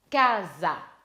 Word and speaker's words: casa: Casa. Attention, l'accent tonique, c'est sur la première syllabe. Ka. Donc, casa.